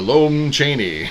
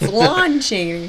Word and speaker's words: Lon Chaney: The Lone Chaney. It's Lon Chaney.